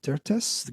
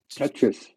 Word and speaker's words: Tetris: It's the the Tertus game. You also did this experiment to Tetris. The Tetris. I never know how to pronounce it.